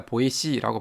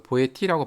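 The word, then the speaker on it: La Boétie: 시에 관해서 쓴 글입니다 이름을 발음할 때 에티엔 딜라 보이시라고 발음을 해야 됩니다 예전에 이제 간혹 그 보혜티라고 발음하는 경우가 있는데 관례적으로이 보혜씨라는 이름은 t라고 발음하지 않고 c라고 발음을 합니다 자 보이시와 관계를 보여주는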